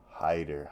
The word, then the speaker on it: Haider: featherweight bout we got was it hyper it's hyper right say his name Hider Hider I wrote hyper so ignore the fact